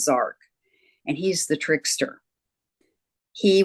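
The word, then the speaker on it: Jark: eight his name is zark it's spelled j-a-r-k but it's pronounced zark and he's the trickster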